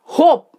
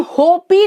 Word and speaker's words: hope: Four letters हैं, बट HOPE हम होपी नहीं बोलते हैं, हम होप बोलते हैं, यानी O वॉवल जो है इस पूरे वर्ड के प्रोनाउंसिएशन को डिसाइड कर रहा है, डिटरमाइन कर रहा है।